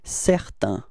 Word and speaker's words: certain: Okay, so we get the sound A-I-N, it's un, okay? Certain, repeat.